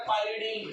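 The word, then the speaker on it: pyridine: इसको कहते हैं परडीन C5H5N या पिरडीन जो भी आप इसे प्रोनाउंस करो परडीन या पिरडीन तो ये हो गए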